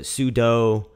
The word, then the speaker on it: sudo: in I pronounce it sudu some people pronounce it sudo in either case it's short for super user do which will allow a